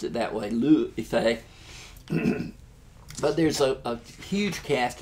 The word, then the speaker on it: Liu Yifei: I looked it up, I Googled it, and they pronounced it that way, Liu Yifei.